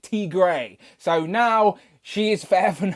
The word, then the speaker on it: Tigra: about an inside joke we call tiger t gray because the robot that reads out my super chats on my live stream can't pronounce tigress you pronounce it t grey so now she is